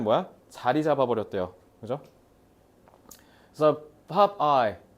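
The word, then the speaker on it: Popeye: 그래서 pop eye. 저거 pop eye를 그래서 일본식 발음하면 뽀빠이가 되는 겁니다.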